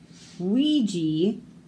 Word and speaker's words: Ouija: Ouija, Oaxaca. Makes a W sound, but spelled with an O.